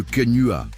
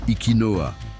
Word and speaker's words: quenua: Le quenua, ou Ikinoa, selon certaines prononciations.